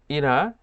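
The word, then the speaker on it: 일해: ইলহায় ইলহায় খেয়াল করবেন আমি এখানে ইলহা উচ্চারণ করলেও কোরিয়ানরা এটাকে ইরা বা ইরাও এভাবে উচ্চারণ করে কেননা রিউল বাতসিমের পরে যদি হিউত থাকে তাহলে এই রিউলটা হিউতের কাছে উঠে যায় এবং হিউদের উচ্চারণ করে না এটা মূল শব্দ ছিল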